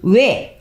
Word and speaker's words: 외: 외. 자, 현대 국어에서이 외는 단몸이에요. 알겠죠? 간모음 얘들아 외와 위는 우리가 발음하면 이중모음처럼 발음이 되죠.